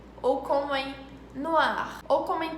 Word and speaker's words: noir: Mas em francês o R tem um som bem aqui, bem no fundo da garganta, como em rouge, ou como em noir, ou como em parler.